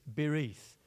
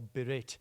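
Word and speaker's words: בְּרִית: Now, the Hebrew word for covenant at this is bereith or berit depending on which way you want to pronounce it.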